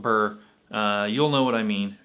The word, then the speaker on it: Byrrh: heard is pronounced apparently this bottle is pronounced in french more like beard or beer but you know in english i'm not going to start calling it beer because that's just going to be confusing with beer so anyway i'm just going to call it burr you'll know what i